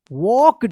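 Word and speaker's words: walked: डब्ल्यू ओ एन डी ई आर एफ यू L wonderful the old castle लुक्ड wonderful we वॉक्ड यहां पे L silent रहेगा वॉक्ड through T एच आर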